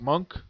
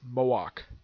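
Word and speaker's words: Moench: Some people might pronounce him as Doug Monk or Malik, but it's Moak.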